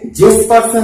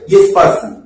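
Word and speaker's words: Jespersen: এখানে জেসপারসন লেখা রয়েছে কিন্তু তোমাদের উচ্চারণটা হবে ইয়েসপারসন, অর্থাৎ এটা যে উচ্চারণ হবে না।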